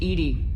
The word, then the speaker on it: EDI: airlock is a jar why are you named Edy Ed is the phonetic pronunciation of Eed that is an acronym for